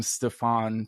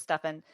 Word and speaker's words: Stefan: it huh poor Stefan everyone calls him Stefan because it's s-t-e-f-a-n which is how I would say it but it's stuffing yeah yeah that's not